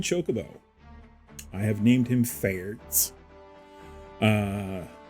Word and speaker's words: Faerdts: i have named him fairs uh the d is silent his name is fairt um and uh he's